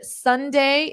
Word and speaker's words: sundae: cream sundae the word Sunday is pronounced exactly as the day of the week Sunday ice cream sunday a